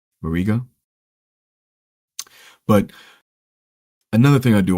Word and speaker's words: Barriga: It's gonna focus on Lars Barriega. Actually forgot how to pronounce his last name. Barriga.